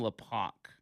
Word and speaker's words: Lopach: In 1999, I think it's probably Tom Lopack. That is how you pronounce his name, l o p a c h. It says, "In 1999, Tom Lopack began his political career as executive director of